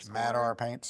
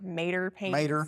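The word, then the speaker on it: MadR Paints: Mad Ar Paints. Gotcha. Yes. And that's for Madison Ramy Paint. M A D R Paints. Yes. People pronounce it like Mater Paint.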